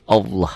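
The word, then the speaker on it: الله: Indonesia kan lain lagi Ini jadi Allah ada w-nya seperti bunyi o bila didahului oleh huruf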